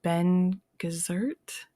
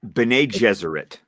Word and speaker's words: Bene Gesserit: Um, his mother is Jessica, and she's a part of the Ben Gesserit? Bene Gesserit.